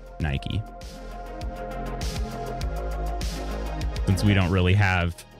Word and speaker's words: Nike: So the closest, like I guess the English American pronunciation, I shouldn't say English, the American pronunciation of that is Nike.